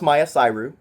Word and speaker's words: MyiaSyru: The character's name is MyiaSyru. And it's pronounced Maya Syru.